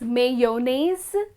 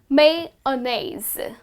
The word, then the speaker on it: mayonnaise: this word is well if you look at the spelling you would tend to pronounce it as mayonnaise but that's incorrect well you do not pronounce the why in the word the correct way to pronounce this word is mei annes so you just skip that y totally you would just pronounce